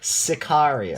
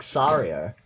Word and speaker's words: Sicario: in the right but you even pronounced it as like sorrier you didn't say Sicario you said sorry that's Azaria yeah because